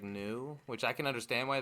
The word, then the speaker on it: Nu: NU, which is pronounced like new, which I can understand why they didn't name it that because like the Right.